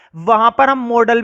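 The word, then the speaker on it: modal: जो कि अपने आप में एक मॉडल है। ठीक है, इसको कुछ लोग मोडाल पढ़ते हैं, तो प्रोनाउंसिएशन मैटर नहीं करती। अब इसको तुम मोडाल बोलो या मॉडल बोलो। मैं तो भाई मॉडल बोलता हूं, और अगर तुम्हें मोडाल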